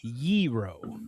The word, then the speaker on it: gyro: It is yeero. Why y e r o? So, yeero. So, it's two syllables. The g is silent in Greek. It's not gyro and it's not gyro.